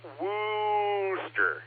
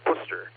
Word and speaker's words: Worcester: The way you pronounce the town to the east of me is Worcester, not Wooster. It's Worcester like your big Wuss Worcester.